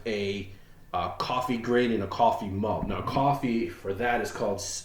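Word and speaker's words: Coffey: then they have a coffee grain and a coffee mug now coffee for that is called is spelled c-o-f-f-e-y it is actually referring to the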